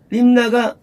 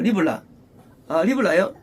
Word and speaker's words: 리블라: 자, 경호대장 무사라들은 그를 사로잡아 림나가 아니고요. 저 리블라예요. 5번에요. 리블라요.